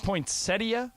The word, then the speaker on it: poinsettia: And just this Isn't it a poinsettia? Aren't you guys leaving a syllable out we there?